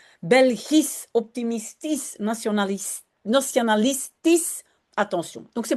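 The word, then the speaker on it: optimistisch: On l'a toujours pas fait euh dans la langue néerlandaise, ça va venir je pense mais on prononce à la fin comme un s belis optimistis national nationalistis.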